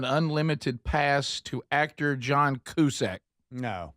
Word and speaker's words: Cusack: It's cusack, but it doesn't matter. Qack. You're right. Don't you say it like a Q? Like the letter Q. Yeah. Yeah. I say QAC. Somewhere in between the two since it's a C.